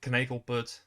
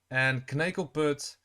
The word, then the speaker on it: Knekelput: It will be a bitch to pronounce if you're not Dutch, but yeah, you pronounce it Knekelput as far as I can remember.